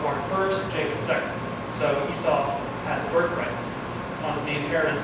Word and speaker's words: Esau: Is it pronounced Esau? E-S-A-U? Esau, okay. Esau.